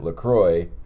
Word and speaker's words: LaCroix: is he told us you pronounce it lacroy or lco so that was very